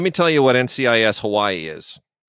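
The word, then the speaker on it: Hawaiʻi: So it's not NCIS Hawaii, it's NCIS Hawaii, which is what you're supposed to say if you're going They're being culturally sensitive.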